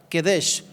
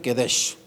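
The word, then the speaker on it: קדש: La palabra hebrea que se traduce por santificó es la palabra Kedesh, no lleva U. ¿Sale? Le aviso. Es hebreo. Yo no sé hablar hebreo, hermano, pero pues mi entendimiento me dice que se pronuncia Kedesh.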